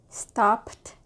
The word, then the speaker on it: stopped: do the next one stopped good stop stop Ed D sounds like T again and the next one